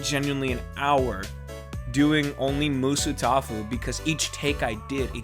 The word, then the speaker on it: Musutafu: website I was sent, it's pronounced in three syllables.